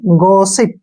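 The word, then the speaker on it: gossip: word है हमारे पास जी O double S आई पी ठीक है ना इंपोर्टेंट वर्ड है और पढ़ने में मुश्किल है जी जी के बाद वल आया है तो जी का उचा ग होगा और ओ को हम पढ़ेंगे औ की मात्रा ठीक है और डबल एस से हो गया स और आई से ई की मात्रा और पी से प गॉसिप क्या हो गया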